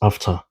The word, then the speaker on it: AfCFTA: It's pronounced after.